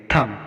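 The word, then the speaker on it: thumb: थम, यहाँ पर भी एम के बाद बी आया है तो यहाँ पर भी हम बी का उच्चारण नहीं करेंगे, इसको थम पढ़ा जाएगा।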